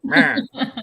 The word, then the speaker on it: Mera: I mean, you want me to say the name wrong again? Yeah. Mera. It's Mera, isn't it? Mera.